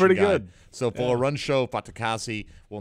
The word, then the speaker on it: Folarunsho Fatukasi: So Folarunsho Fatukasi will not be suiting up for the Jets. Who's that again? Say it one more time. Folarunsho Fatukasi.